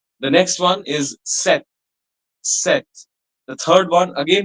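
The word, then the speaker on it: cet: The next one is set. Set. The third one again will be pronounced as set.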